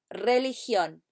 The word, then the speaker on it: religión: De nuevo, religión. ¿Y qué asignatura es? RE. Correcto. Muy bien. Try and roll your R at the beginning if you can.